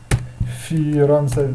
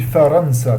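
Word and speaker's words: فرنسا: Firansa. Hop, je vais pour vous corriger. Firansa. Vous pouvez dire aussi faransa, comme d'un fi ou fa.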